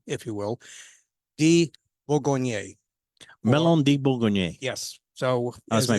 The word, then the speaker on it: Melon de Bourgogne: Melon de Bourgogne. Yes. So That's as my it- pronunciation on that.